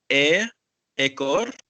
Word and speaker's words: ekor: standard maybe for English, okay, but now for Malay, we say ekor, Mhm. atau ekor. Ekor. You have to Okay. open your mouth a little bit.